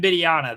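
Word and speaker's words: Wembanyama: his name i should probably learn freezing victor beniana when bidiana that's who that's how you say it thank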